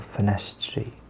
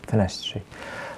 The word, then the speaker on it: Ffenestri: So this one's called Ffenestri, which means windows. I've noticed that this is mostly how Welsh speakers tend to pronounce TRs together. Tri, not tri, tre.